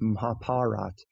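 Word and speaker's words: Mahabharata: mahabarata but you know people who speak Hindi have told me hey you're pronouncing that wrong it's m parat a lot of the a sounds are dropped off at the end maybe back in ancient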